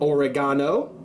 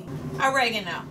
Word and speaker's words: oregano: tablespoon one teaspoon of oregano that's how they say it over in great britain oregano one teaspoon of chili